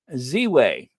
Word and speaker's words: Ziwe: Ziwe.